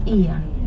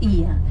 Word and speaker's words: Oia: It's E-A. O and I is what we pronounce as E in Greek language.